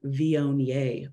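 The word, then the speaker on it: Viognier: heard of the white wine vionier before it looks like Wagner like it's spelled weird um but it's a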